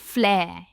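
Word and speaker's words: flair: हमारा next confusing पेयर है फ्लेयर और फ्लैर। अगेन इन दोनों वर्ड्स में हम R को प्रोनाउंस नहीं करते, इसकी प्रोनाउंसिएशन है फ्लैर। एंड में साउंड आता है, फ्लैर।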